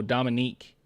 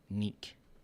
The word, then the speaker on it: Dominique: Oh wait, Neek? Oh, Dominique. Oh, I was saying it wrong. Sounds French. Neek.